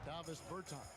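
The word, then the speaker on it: Dāvis Bertāns: Oh, well, now at this point in my life, it's Davos Bertans. throw it. Is that how you say his name? Yeah. Davis Bertans.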